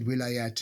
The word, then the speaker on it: wilaya: You just said wilayat and vilayats, and that's actually the same word. It's just vilayat is the Turkish pronunciation, and so they spell it differently. And wilaya in Arabic.